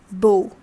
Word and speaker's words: beau: How is it pronounced? Beau.